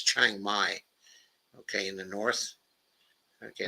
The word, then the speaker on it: Chiang Mai: And by the way, okay, it's Chiang Mai, okay, in the north. Okay, that's the way you pronounce that one.